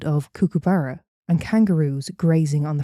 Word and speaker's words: kookaburra: We wake up to the sound of kookaburra and kangaroos grazing on the front lawn." The fuck's a kookaburra? A bird. Kookaburra. Kookaburra, I believe it's pronounced, yes.